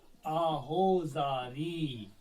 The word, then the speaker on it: آہو زاری: نہیں پڑھیں گے۔ یعنی یہ والا واو جو ہے یہ و کے طور پہ نہیں پڑھا جائے گا بلکہ او کے طور پہ پڑھا جائے گا۔ یعنی اگر ہم اس کی پروننسیشن لکھیں گے، تلفظ لکھیں گے تو وہ اس طرح ہوگا، آہو زاری۔ آہو زاری اس کا تلفظ ہے لیکن لکھا جائے گا